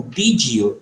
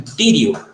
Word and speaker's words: did you: Então, a tendência, ao invés de você tentar pronunciar como did you, tente pronunciar como dido.